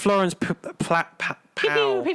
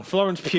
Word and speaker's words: Florence Pugh: There's no sign of Florence Pow. Yeah, Florence Pow. I heard someone mentioned it. So Florence Pow. Wow. Florence Pugh. How could it be that wrong pronouncing the name?